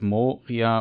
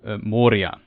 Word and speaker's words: Moria: states that um that the r is a trill so it's not morphia or moria moria it's moria so it's road sauron